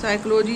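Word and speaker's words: psychology: पी कहीं नहीं आता है साइकोलॉजी पी कहीं नहीं आता है निमोनिया पी कहीं नहीं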